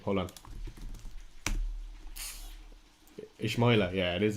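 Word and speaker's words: Ismaïla: Ismaila. Yeah, it is Ismaila.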